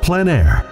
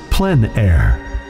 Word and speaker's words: plein air: of outdoor painting, called plein air. The French coined the term, which means open air or outdoors. The French pronounce it plein air. Others say plein air. No matter how you say it, there is a